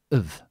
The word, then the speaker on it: of: Okay, so this the phonetics of this of is when we say it slowly, it's with a V and with an an O sound, so it's of, of. In conversation, we normally say uv uv uv cuz we're speaking quickly.